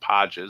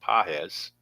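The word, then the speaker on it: Pages: Not Paj, but Pahz.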